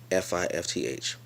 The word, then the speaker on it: fifth: is fifth fif th enunciation is when you really drive all the letters of the word in fifth fifth so I'm saying the same word but I'm emphasizing the th that is spelled in the word that's important to me